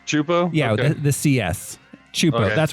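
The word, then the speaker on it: Csupo: where I got Chapo it's pronounced CL clasy chupo oh it's pronounced chupo yeah the Cs chupo that's where I got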